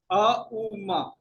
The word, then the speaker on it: ओम: तो ये चक्र जो है एक्टिवेट जो है हम लोग ओम के उच्चारण से करेंगे। अ उ म।